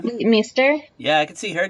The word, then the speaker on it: Leighton Meester: Leighton Meester.